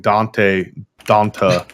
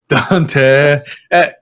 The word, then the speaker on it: Dante: shouldn't ask me because I was pronouncing Danta. So I wasn't gonna say anything. I wasn't gonna say anything. No. Dante.